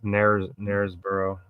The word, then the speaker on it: Knaresborough: So But like you fucking think it would say Gunners, but it's not. It's Knaresborough.